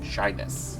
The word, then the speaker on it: Shiness: Shyness. You're shy, you're bashful. It's pronounced the same way, but it's spelled SHINESS. Shyness.